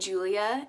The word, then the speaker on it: Julia: is Julia I Shh I'm saying Julia instead of probably pronouncing it the correct Spanish way because that's how she wants it pronounced in the book okay that's gonna tell you a little bit about her I'm not a perfect Mexican daughter I don't want my name pronounced the perfect Spanish way that makes sense okay